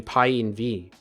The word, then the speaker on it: pyenv: after pythons installed actually should be PI and V right we need pyenv to install it for us for that environment or no you're pronouncing it correctly I am okay cool